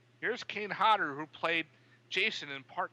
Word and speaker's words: Kane Hodder: was driving me bonkers you keep saying it's cane holder like what hyegyo no Kane Hodder would do such and